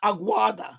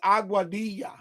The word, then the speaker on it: Aguadilla: a aua auadilla right so even if you pronounce it wrong you should say say auadilla not auada but the proper way is saying it is auadia.